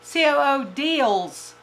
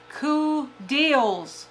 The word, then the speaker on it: Coodeals: time it's cool cool Co deals cool deals I've been saying that wrong and I don't find